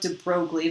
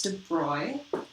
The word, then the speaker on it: de Broglie: here is the diploid relationship so this is pronounced YZ French so it kind of looks like de Broglie but it's not it's de Blois Hughes French he was actually a prince of